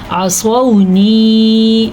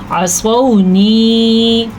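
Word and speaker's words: عصوني: عصونی، عین زبر ع، صاد زبر با، سو، عین کا تلفظ اور صاد پر پڑھنے کا تلفظ، اس کا آپ نے خاص دھیان رکھنا ہے۔ تو آپ اس کو کیا پڑھیں گے؟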